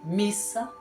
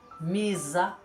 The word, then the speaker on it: missa: para participar da missa é com dois s porque se eu colocar um s só vai ficar misa e fica errado não pode usar um